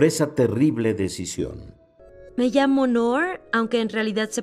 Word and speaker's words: Noor: Me llamo Noor, aunque en realidad se pronuncia como Noor, pero todo el mundo me dice Noor.